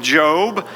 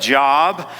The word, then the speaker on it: Job: to the book of Job some of you may pronounce that job but it's it's the book of Job and the book of